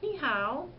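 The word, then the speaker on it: 你好: like how are you spelled Hao but it's pronounced how so when I say Nihao that means I'm saying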